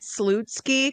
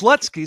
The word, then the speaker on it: Slutsky: And I always like I always wanted to say it Salutsky cuz I figured like and and no, they didn't want to be called Salutsky. it's Slutsky. Say it Say it right, dammit."